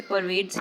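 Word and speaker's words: pervades: इसकी प्रोनाउंसिएशन भी ऐसे ही की जाती है, इसे परवेड्स ही बोला जाता है। इसकी कोई ऑल्टरनेटिव प्रोनाउंसिएशन नहीं है और इसका हिंदी में मतलब काफ़ी सिंपल वर्ड है ये।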